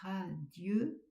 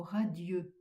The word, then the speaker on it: radieux: Au lieu de dire radieux, on va prononcer radi, ce qui ajoutera un pied au vert.